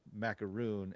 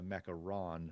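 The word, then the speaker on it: macaron: mistakes of saying that my favorite cookie is the macaroon and it's actually the mecha ron with one o yeah we don't we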